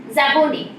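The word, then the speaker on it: Szabó: Event भी mention किया गया है, IFFI में 52nd इनॉग्रल सेरेमनी में ये अवार्ड जीता है स्टावन ज़ाबोनी, okay, S is silent here, it इज स्टावन ज़ाबो, okay, who is basically a Hungarian filmmaker, right, इनको सत्यजीत राय लाइफ टाइम अचीवमेंट अवार्ड दिया गया है।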